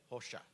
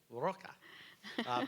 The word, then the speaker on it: Rocha: So, without further ado, it's my pleasure to introduce our keynote speaker, Dr. Rocha. That is the Brazilian pronunciation, what you might think is Roca.